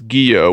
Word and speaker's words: Guyot: it was guillot or gaiot and uh peter says it's geo with a silent t as i kind of suspected since it's a french name so i don't know